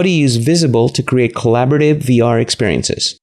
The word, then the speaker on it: Vizible: you can be showing us the app called visible right my pronouncing right that's correct visible and we're gonna talk about how to create